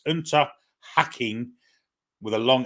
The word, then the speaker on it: Unterhaching: It's Unterhaching with a long A, as in posh, pronounced have.